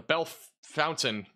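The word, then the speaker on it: Bellefontaine: in between here near the Bell or the Bell Fountain pronunciation with the two e makes it crazy Bell Fountain um near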